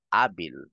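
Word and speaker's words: hábil: Phoenix, abil, silent H, abil, arbol, which is puno, Hernandez.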